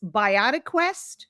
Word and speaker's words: BiotiQuest: It's BiotiQuest. So if you think about which is life and quest, Yes. which we're all on a life quest.